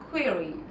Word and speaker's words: query: So I'm actually using the e sound. Query query. I have a query for you. Okay? Or I have a query for you. Either is okay.